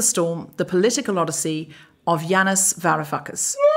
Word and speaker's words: Yanis Varoufakis: eye of the storm the political Odyssey of Janis VAR fuckus how good was the pronunciation of that name then was that good